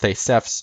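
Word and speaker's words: Θησεύς: The words Theseus and Aspis, or in Greek it'd be pronounced Thesefs and Aspis, an asp, Aspis being an asp, which is a snake, it's a poisonous snake, are similar.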